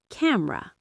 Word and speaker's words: camera: Now for vowel elision in unstressed syllables in words like camera. The e disappears. You say camera.